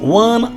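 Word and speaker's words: one: ওকে, যেহেতু ওয়া উচ্চারণ হয়েছে, কি উচ্চারণ হচ্ছে? ওয়া, তাই আমি এখানে কি বসাবো? এ বসাবো।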